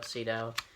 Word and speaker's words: Sydow: departed Max von Sydow sido Max von Sydow I think is how you pronounce it but you know he